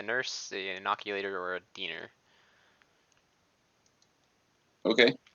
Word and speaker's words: diener: an inoculator, or a diener. Okay. That's how it's pronounced, right? It's not a dining table. It's a body table. Diener, yeah. It's not a diner.